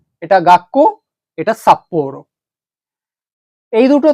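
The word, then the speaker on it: がっこう: এই ছোট সুটা থাকার জন্য এই যে কোয়ের যে কেটা আছে এইটাই ডাবল হয়ে যাবে এখানে। তাহলে এখন শব্দটার উচ্চারণ হচ্ছে গাক্কো, গাক্কো, অর্থাৎ স্কুল, বিদ্যালয়।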